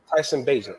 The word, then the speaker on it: Bagent: Is it Tyler Bagent? Am I saying it right? Tyson Bagent.